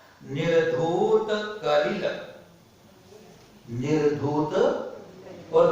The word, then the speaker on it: निर्धूत: नमः श्री वर्धमानाय निर्धूत कलिलात्मने सालोकानां त्रिलोकानां यद् विद्या दर्पणायते। बोलिए। निर्धूत में बड़ी मात्रा लगी, उसका उच्चारण निर्धूत करिला में थोड़ा जोर देना। निर्धूत बोलेंगे तो छोटा ओ हो जाता है, उससे अर्थ अलग हो जाता है।